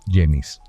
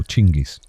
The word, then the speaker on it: Genghis: Ese hombre fue Yenis, o Chingis, o Jingis, o como más te guste pronunciarlo.